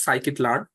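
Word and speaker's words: scikit-learn: library that is called psyit learn okay this pronunciation is psychic learn in in short we call it escalar this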